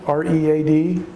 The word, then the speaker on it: read: call your attention to, the word read, R-E-A-D, the past tense is read, R-E-A-D. The spelling is the same, but we pronounce the past tense differently than the present tense. And the only way we know which is present tense and which is past tense, because the words are spelled the same, is by context.